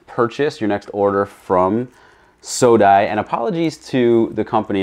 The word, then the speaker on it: SODI: your next order from sodai and apologies to the company if I'm pronouncing the name wrong but I think it's soda it's s-o-d-i of course uh the